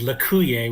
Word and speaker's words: Lauer: um Street and um I'm told it is Lauer with the accent on the second syllable at the other table